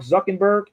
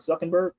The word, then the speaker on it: Zuckerberg: And and if you look up Mark Zuckenberg, did I say his name right? Mark Zuckerberg.